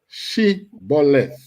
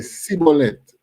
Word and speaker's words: Shibboleth: All right, say Shibboleth. Say the word Shibboleth. No, because they know that the Ephraimites them can't pronounce the word right. They say Sibboleth.